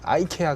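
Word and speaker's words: IKEA: 제가 얼마 전에 이케아라고 불렀더니 어떤 분이 아이케아 그러면서 아이케아는 영어시가. 영어식 발음이에요. 아 그래요? 아이케아가 이케아는 이제 원래 그 나라 사람 발음이고.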